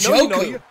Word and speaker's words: Njoku: David Njoku.